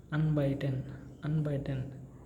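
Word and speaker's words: anbieten: It is unbiten by I10, unbiten I, because here again IE combination, right? So it gives the sound of pronunciation of E, unbeaten, unbeaten.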